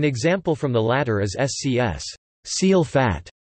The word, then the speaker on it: scs: An example from the latter is SCS. Seal fat, pronounced SXS, as spelled, and a longer one is Klachpiltplachosks, pronounced XPKITPSKTS.